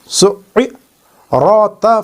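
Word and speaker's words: سُعِّرَتْ: We have to spell it like sin ain dhamma su' ain kasra i su'i ra ta fatha rat su'irat. So we are reading the letters which have tashdeed on them twice.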